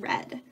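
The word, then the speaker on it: redd: nest and for salmon we call this nest of red sounds like the color red we spell it our EDD so salmon lay pretty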